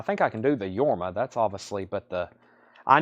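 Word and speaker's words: Jorma: Leslie West at 160 JMA K is pronounced yorma Co Conan yeah I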